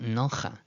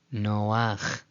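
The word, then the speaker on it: נֹחַ: Again, read it directly, the first example may appear to look like that says nocha, but you know better, you know the rule. It's not nocha, it's noach.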